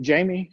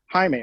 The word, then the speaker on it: Jaime: Hey, just real quick, Jamie, is it Jamie? Is that how I pronounce it? Jaime. Okay. Jaime, well, yes, I hear you hesitate every time somebody says your name, so it sounded like we were doing that wrong.